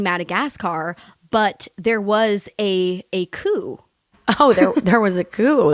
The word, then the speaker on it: coup: Coup, a silent consonant at the end.